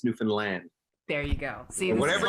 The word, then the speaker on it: Newfoundland: it to be pronounced it's not the Fallon it's not new Newfoundland it's Newfoundland there you go see